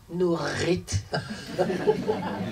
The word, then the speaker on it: Nurith: prononces quand tu mon nom comment tu les prononces nourrite fais très attention et quand tu quand tu